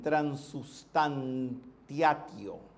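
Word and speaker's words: transubstantiatio: Palabra del latín, transustantiatio, digamos en latín de los Césares, latín culto se pronuncia así, que significa conversión de una sustancia en otra.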